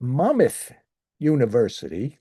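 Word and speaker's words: Monmouth University: He currently teaches jazz history, American music history, and music appreciation at Mammoth University. That's how he told me it's pronounced.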